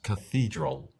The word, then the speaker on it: cathedral: En inglés es cathedral.